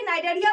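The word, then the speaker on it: Cnidaria: सकते हैं नाइडोसिस्ट देखिए यहां पर सी जो है वो साइलेंट होता है। यहां पर भी सी साइलेंट है।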